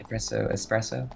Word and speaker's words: espresso: Espresso? Yes, and Shut you up. pronounce it espresso when it's wrong. Espresso. No, it's espresso. Espresso. There's no X.